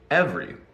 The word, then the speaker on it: every: happens in songs so we cut the second e in every ever Reno e v e don't pronounce that e say EV re every let's look at that